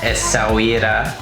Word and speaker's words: Essaouira: Let's do a quick room tour of the Air Blue Palace in Essaouira.